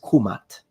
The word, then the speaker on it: Kemet: u in that position so if we really want to be precise then the correct and most likely pronunciation in ancient Egyptian specifically in classical Egyptian is kumat kumatu nominative kumata accusative and kumati oblique genitive now let's discuss this